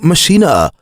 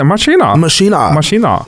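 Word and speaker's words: Maschine: The Machine 2 or Machina. If you're German, I think that's how they say it. Machina.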